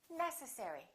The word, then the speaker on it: necessary: you say this one is it necessary necessary or necessary it's the first one necessary let's do the last